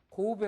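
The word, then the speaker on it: 神戸: 없어요 이거를 근데 이것을 일본 사람들은 뭐라고 읽어요 고배 아고 읽어요 고배 다이신 사에 고배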